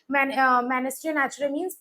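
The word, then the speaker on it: mesne: men or mean profit the S is silent here what do you mean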